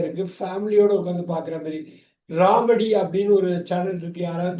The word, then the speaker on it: Romedy: இவ்வளோ வேர்ட்ஸ் இருக்கா, நமக்கு தெரிஞ்ச வேர்ட்ஸை இப்படியெல்லாம் யூஸ் பண்ணுறாங்களா, இப்படியெல்லாம் ப்ரொனவுன்ஸ் பண்ணுறாங்களான்றோம். அந்த சேனல் நம்ம நேம் மட்டும் நோட் பண்ணீங்க, ராமடி, ROMEDY. ராமடி.